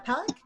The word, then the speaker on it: Palac: hi hi everyone my name is uh pollock i pronounce it see her i live in san